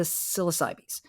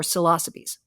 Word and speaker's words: psilocybe: The mushroom genus that has the most psychoactive species in it is the psilocybes or psilocybes. Both pronunciations are correct.